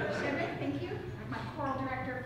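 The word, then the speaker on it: Shchedryk: And it comes from a Ukrainian song, Shchedrik. Did I say it wrong? Shchedrik, thank you.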